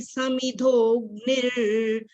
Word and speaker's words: समिधोऽग्निर्: यथै धांसि समिधोग्निर्। र नहीं पहले बोलना, पहले हमने ग की आवाज पहले।